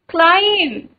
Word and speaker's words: climb: The first word is climb. Climb. Climb. Note it down in your notebook. Okay? B. Correct answer is B.